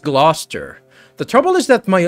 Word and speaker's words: Gloucester: you even pronounce that Glouster gler oh it's pronounced gluster the trouble is that